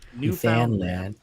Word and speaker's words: Newfoundland: from california iowa arizona and newfoundland am i pronouncing that correctly newfoundland newfoundland yes many of us have been your wife